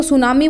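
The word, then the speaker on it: tsunami: इसको टी जो होता है वो साइलेंट होता है तो इसको सुनामी बोला जाता है और लिखा तुसामी जाता है। ठीक है, सो सुनामी इसको बोलते हैं बेटा।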